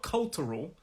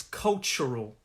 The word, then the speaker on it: cultural: about this word is the ch sound that tu has a kind of ch sound so it's not cultural it's cultural that's the way i